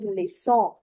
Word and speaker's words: leçon: Il y a des leçons.